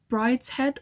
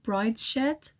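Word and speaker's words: Brideshead: also want to read I don't know whether you pronounce this Brides head or Brides shed I think it's brid's head Revisited I want to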